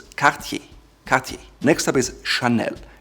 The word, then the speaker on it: Cartier: Cartier, not Cartier. The R comes from the back of your throat, which is typical French, so it's Cartier.